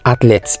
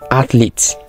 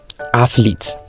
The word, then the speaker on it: athlete: going to show you the correct way to pronounce them this is not athlet it is athlete so it sounds like this athlete this is not C it is Cash sounds